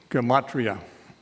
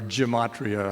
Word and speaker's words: gematria: a little bit about gematria or gematria i've heard it pronounced both ways gematria oh my goodness